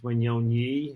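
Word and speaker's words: Wanyonyi: Yeah, Wignoni, I think, and it's Wignoni. It's like a YI at the end, but yeah, Wignoni.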